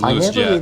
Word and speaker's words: Luosjiet: He says Luos Jet.